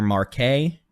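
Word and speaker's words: Marquette: strong velocity remains near marquet make sure I said it right that is pronounced Marque but Marque that's new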